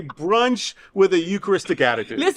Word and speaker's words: Eucharist: Eucharist.